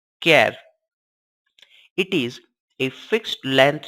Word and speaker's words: char: our database string types character which is denoted by ch AR and pronounced as keV it is a fixed